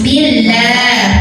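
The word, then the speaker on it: بالله: Wayu min billah. Ada lam jalalah yang dibaca secara tartik ya. Kenapa tartik? Karena sebelumnya hurufnya barisnya di bawah kasrah, maka lah tipis. Billah maka lidah datar ya.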